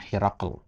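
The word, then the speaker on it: هرقل: Ya, Herakl itu ya kalau bahasa ejaan kita ya Heraklius, ya, Heraklius. Kalau bahasa Arabnya Herakl.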